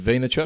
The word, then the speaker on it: Vaynerchuk: Talking about Gary Vaynerchuk, that's how you pronounce his surname, right? Is it Vaynerchuk?